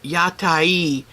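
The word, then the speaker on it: 屋台: Oh, Joe, I we got in the Yatai, which is the correct pronunciation for the food vendors in the streets of Japan.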